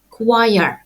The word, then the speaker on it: quire: Студенти, які бачать це слово вперше, завжди читають його невірно. Запам'ятайте, слово вимовляємо choire.